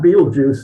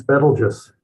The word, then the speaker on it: Betelgeuse: It's not Betelgeuse, it's Betelgeuse. So it's you'll see all kinds of pronunciations.